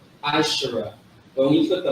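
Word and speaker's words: עשרה: But this right here is actually this is how you say 10 in Hebrew. Ashara.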